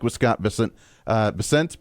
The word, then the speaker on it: Bessent: Uh Bessent Bessant, however they pronounce it. I think it's Bessant. I like to say Bessent, but I think he calls him Bessant.